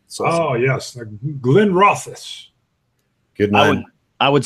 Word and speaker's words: Glenrothes: So yes, Glenrothes. Good man. I would say Glenrothes. Good guys. Well done. Well done. I've heard that pronounced Glenrothes.